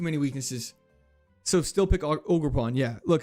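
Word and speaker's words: Ogerpon: Oh, I've been saying it wrong. Not Audreon. Iron leaves. No. So many weaknesses. Way too many weaknesses. Ogre pawn.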